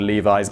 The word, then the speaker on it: Levi's: I absolutely know that these trousers are called Levi's, but have a look below for all of the people who didn't finish the video, and have a go at me for pronouncing it Levis.